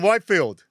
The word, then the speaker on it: Whitefield: It is Whitefield, yep. I thought it was Whitfield. And Yeah. joining us now That's a from tough the... one, Rick. Well, I wasn't sure if it was Whitfield or Whitefield. Got him. I mean, how do you struggle with Whitefield? For fuck's sake, Rick. 2 words, white and field, put them together.